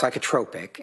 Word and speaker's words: psychotropic: It's pronounced psychotropic and okay.